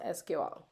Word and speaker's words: SQL: table using Sigma FY people pronounce sequel to friendly as you just called sequel but I've heard it pronounced SQL let's start with defining